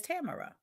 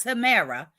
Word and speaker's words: Tamara: So it is Tamara. That's right. So Tamara. It's Tamara. Not Tamara.